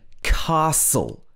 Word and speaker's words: castle: listen in s-t-e-n listen also in castle castle s-t-l-e is pronounced soul castle and also in often